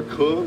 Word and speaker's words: Kong: For those of you who don't know me, I am Kong, like King Kong, or Kung, if you're Vietnamese and can pronounce it correctly.